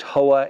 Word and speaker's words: Howa: made in Japan now it's pronounced HOA in Japan but when in Rome do as the Romans do I guess you could say so we're going to say Howa it features a 90°